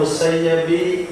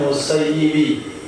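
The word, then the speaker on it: المسيب: itu bacaannya musayyabi tulisannya Tulisannya musayyabi bacanya musayyibi Kenapa kita baca musayibi karena musayyab artinya disia-siakan sedangkan musayyid artinya menyia-nyiakan Imam Said pernah berdoa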